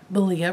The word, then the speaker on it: Malia: the first time that Malia rhymes with hariya of the yarn raising